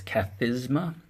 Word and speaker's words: Kathisma: view and kind of correct my pronunciation here it's catezuma which is seat and you'll see the